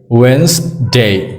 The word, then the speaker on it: Wednesday: hei hi adik chialo ani nge ti chuanin Wednesday ti mai tur ani two syllable two sounds kan tiang chu Wednesday ti